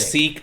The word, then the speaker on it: Sikh: It's pronounced sick, but that's going to confuse people who don't know. So sick or it's sick. Sikh or sick. Yeah. They prefer to be called sick.